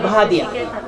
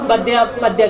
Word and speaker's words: بہادیا: تو اگر ہمارے گاؤں کا نام ہے بہادیا، ہاں تو سب لوگ بدیا کہتے ہیں. اگر میں کہوں بہادیا تو وہ کہتے ہیں کہ کیسے تلفظ کر رہے ہیں.